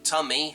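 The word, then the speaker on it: Tummey: electrician from Worcester and his name is a Jamie tummy here um that's spelled t-u-m-m-e-y so similar to like another name for your abdomen um of your where your stomach is uh 31 years old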